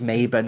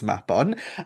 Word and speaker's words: Mabon: But then his name is invoked during this autumnal festival, and often invoked incorrectly, pronounced as Mabon and such.